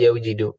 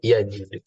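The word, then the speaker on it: يجد: Sama kayak wajada yajidu. Apa yaujidu? Enggak, yajidu. Susah kan bacanya yaujidu?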